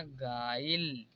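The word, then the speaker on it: guile: जैसे यहाँ पर देखिए GUI तो I जो है यहाँ पर एक वावेल है तो U के बाद आया है इसलिए यहाँ पर U साइलेंट होगा तो इसे पढ़ा जाएगा गाइल।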